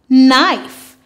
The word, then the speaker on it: knife: N, I've, knife. Now remember, in this word, the K is silent.